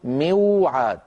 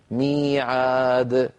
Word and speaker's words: ميعاد: عندنا أيضا كلمة ميعاد مشتقة من وعد، وإذا أخذنا من وعد مفعال نقول موعاد، لكن العرب أيضا أذكر لا ينطقون واوا ساكنة قبلها مكسور، فيقولون بدل موعاد يقولون ماذا؟ ميعاد.